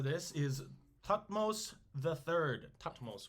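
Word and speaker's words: Thutmose: is hutmos the third topmost would be probably pronounced but it's t-h-u-t-m-o-s-e tatmos so uh uh thought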